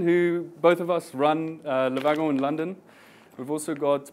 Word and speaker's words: Le Wagon: So a little bit about Le Wagon, or Le Wagon, as I pronounce it in English.